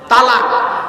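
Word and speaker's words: طلاق: বিভিন্ন কারণে হোক ডিভোর্স দেয় আরবিতে একটা শব্দ উচ্চারণ করে কি বলে তালাক কি বলে তালাক জোরে বলুন তালাক আরে বউ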